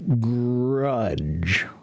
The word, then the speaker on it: grudge: Then the other one is 1 syllable. Just throw it out of your mouth quickly.